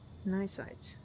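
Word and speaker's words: cnidocyte: Nysite.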